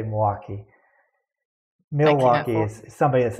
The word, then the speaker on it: Milwaukee: the face I'm making you pronounce Milwaukee with an L which proves that you're not from Milwaukee is it how do